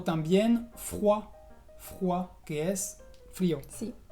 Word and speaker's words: froid: Por ejemplo, después de una vocal, le pie, que es el pie, o también froid, que es frío.